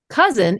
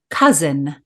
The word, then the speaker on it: cozen: word of the week with Tutor Time Machine cousin is a tutor word meaning to deceive win